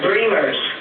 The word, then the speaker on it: Bremers: well one is that my name is pronounced dreamers which um only people